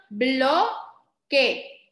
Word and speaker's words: bloque: No dije que, ¿verdad que no? Dije que. Porque la U aquí, ¿se dice o no se dice?